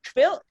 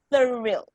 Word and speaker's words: thorough: i see that okay i need your th to be very clearly pronounced it's not trail it's thorough okay you have to over